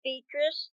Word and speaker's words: Beatrice: prove mrs medulla miss beatrice she pronounced beast's name after the italian manner he is to play